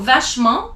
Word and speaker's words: vachement: So vachement, you don't pronounce the T at the end.